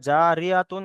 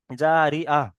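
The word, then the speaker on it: جارية: মানে এখানে যদি থামি, তাহলে এখানে জারিআতুন আর বলবো, তুন বলবো না। তাহলে এখানে জারিআহ, জারিআহ, ঠিক আছে। এই তাটা হা উচ্চারণ হবে, হা সাকিন হবে, ঠিক আছে।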